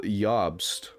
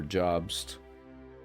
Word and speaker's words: Jobst: in huge trouble from Carl yobst I think is how you say his name or jobst but I think the J makes it y absolute Legends can you